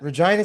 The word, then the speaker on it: Regina: That's something that sticks with you because when she was like it's vagina. It rhymes with something else and then How do you remember that? I honestly don't remember that. Regina, Saskatchewan.